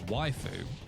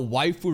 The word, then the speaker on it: waifu: I never really wondered how waifu really started. I thought it's because, Japanese pronunciation of some words, they're more extended. So wife, waifu, and they're like, ha, let's just, use that.